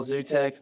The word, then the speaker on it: Gzutek: That's how you spell Gzutek with a silent G.